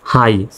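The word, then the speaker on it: high: HI, এই শব্দ আবার দেখেন GH এর উচ্চারণই হয়নি, HI, হাই, এই GH এর উচ্চারণ হয়নি, সাইলেন্ট হয়েছে।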